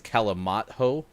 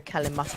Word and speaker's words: Calimocho: So, Sports.Gaming is asking, did you mean to tell us that you were drinking wine and Diet Coke, otherwise known as Kalamata? No, Calimocho.